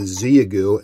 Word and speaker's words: Xiegu: want to do today is talk about the ziyagu and i've got it pronounced just right now the zeagu g90s keyer the built-in keyer function it's actually